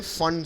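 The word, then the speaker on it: Pfund: Actually spelling है इसकी पी फंड, पर पी साइलेंट है, इसको पढ़ते हैं फंड सीरीज।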